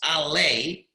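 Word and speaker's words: עלי: Now the word it's pronounced Ale, Ayin Lamed Yud.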